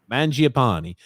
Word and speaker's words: Mangiapane: How do you pronounce his name? Mangiapane.